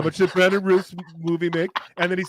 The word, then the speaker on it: Routh: I said how much did Brandon Routh's movie make? Ralph rhymes with South. Ralph.